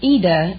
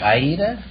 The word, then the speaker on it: Ida: Well, it's Ida in Italian, but... Oh, like Aida? Well, no, there is no A. It's just Ida. I-D-A. Oh. But the Americans pronounce it Ida.